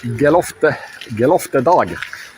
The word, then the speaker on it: Geloftedag: So it's time to reconcile the the gala dog as you can pronounce it in Swedish.